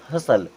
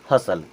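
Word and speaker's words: hustle: उसी प्रकार यहाँ पे यहाँ भी टी साइलेंट होगा और इसे क्या पढ़ेंगे, हसल। क्या पढ़ेंगे, हसल।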